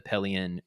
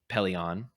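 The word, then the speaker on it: Pellaeon: the signing of the palean gavison treaty if you remember the name palean paleon depending on how you want to pronounce it you would remember that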